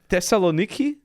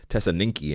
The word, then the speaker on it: Thessaloniki: you flew in from Thessaloniki yes and I just Le how to uh pronunciate that word I was I was calling it Tess Tessa ninki and Colonus all week people were mad at